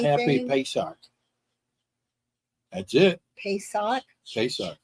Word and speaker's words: Pesach: Pesach. Pesach, like highway.